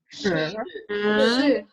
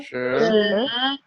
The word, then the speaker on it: 十: 十 Second tone, going up. 十 10. 10. 十 Going up. Remember the video? You use your head. You raise your head when you pronounce second tone.